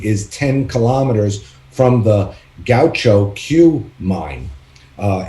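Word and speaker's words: Gahcho Kué: in the world which is i hope i'm pronouncing it right gaucho q um it's g a h c h o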